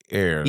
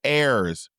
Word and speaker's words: ears: I say ears, you say ears. Ears. Ears is the correct way. I I'm all ears. I'm I'm all ears. Ears, not airs.